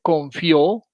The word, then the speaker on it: confió: diptongos y los hiatos, puede ser confió, y en ese caso estamos hablando de de un diptongo, o puede ser confío, y en ese caso estamos hablando de un hiato. El primero lleva tilde por tratarse de una palabra aguda terminada en vocal y el segundo lleva tilde por tratarse de un hiato con acento en vocal cerrada.